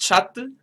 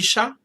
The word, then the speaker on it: chats: Ce sont 6 chattes. Ce sont 6 chats. In the feminine version, I'm pronouncing the consonant. In the masculine version, I'm not.